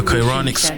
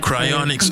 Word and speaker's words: cryonics: so the Cairo uh chironics cryonics I've been pronouncing it wrong for like two hours ionic Center is